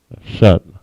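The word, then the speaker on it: שן: And tooth is pronounced shun. All right, sha and na, shun.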